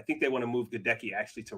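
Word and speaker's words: Goedeke: I think it's pronounced Gadecki, Luke Gadecki, who played left guard.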